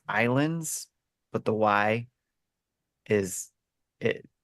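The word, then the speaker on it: Ylands: it's actually still pronounced Islands but the why is it threw me off so uh but yeah if you go look it up it's why lands but it sounds but it's actually pronounced Islands uh it's basically an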